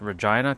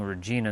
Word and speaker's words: Regina: It's weird to say that Regina cuz I had a woman on my other other stream named Regina and it's spelled the same way. So I'm I'm now used to saying Regina instead of Regina.